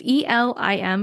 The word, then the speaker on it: Elim: And yes, I did watch a funny YouTube video to find out how to pronounce Elim because I had no idea. It's just Elim, but I felt like there were so many ways I could say that.